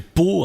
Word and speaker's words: Pau: Et il s'appelle Pau, hein, donc Pau ça s'écrit comme la ville, hein, PAU.